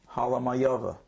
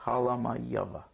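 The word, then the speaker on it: Halamajova: Her name is Francesca Halamayova. H-A-L-A-M-A-J. The J is pronounced as Ya. O-V-A. Halamayova.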